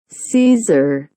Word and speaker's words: Caesar: 게르만의 왕 카이저와 러시아의 왕도 차르라고 부르는데 이거는 시저를 각각 자기 방식으로 발음한 겁니다. Caesar.